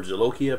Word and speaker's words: jolokia: the i guess is john oakey of peppers or jolokia pepper is how they pronounce that ghost pepper just